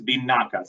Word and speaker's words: vinaka: If it's please, it's a carry, carry is how that's pronounced. That's please. And then thank you is binaka.